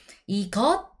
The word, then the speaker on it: 이것: okay he got we do need to add this bottom consonant s in the bottom yes and then i pronounce it no s i didn't pronounce s no it's actually a sound it's kind of similar to t yes but it's not really t sound you know what i mean it's like right before you pronounce t so you say i got but you cut it there before right no cut